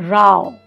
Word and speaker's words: row: it as minute minute row is like rowing your boat but if you're having a violent argument with somebody that is a row we ended up having a row any of these homographs